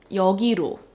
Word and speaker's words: 여기로: 여기로, to here, you know, 여기로, that 로 tends to get pronounced as 루, 여기로, 여기로 와, 여기로, instead of 로.